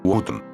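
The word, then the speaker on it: Wotton-under-Edge: y cuidadas calles de Woton Underedge, o como lo pronuncian los lugareños, Woton.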